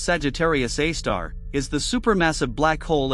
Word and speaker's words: Sagittarius A*: Sagittarius A asterisk, pronounced Sagittarius A star, is the supermassive black hole at the center of the Milky Way galaxy.